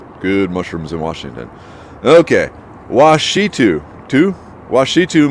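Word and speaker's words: Ouachita: Okay, Washitu Mountains. Because O-U-T is pronounced Wa.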